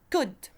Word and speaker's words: could: The L is silent. We pronounce it could.